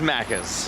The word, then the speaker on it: Macca's: That's Macca's.